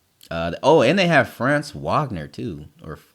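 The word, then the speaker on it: Franz Wagner: almost dropped 40 uh oh and they have France Wagner too or France Vagner that's how you say his name anyway 19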